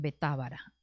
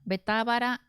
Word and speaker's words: Betábara: Estas cosas sucedieron en Betábara, al otro lado del Jordán, donde Juan estaba bautizando. Bueno, Betábara tiene el acento en Ábara, ¿verdad?